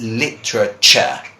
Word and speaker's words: literature: this is culture and this is literature I know this one is very hard to pronounce that's literature okay same thing happens by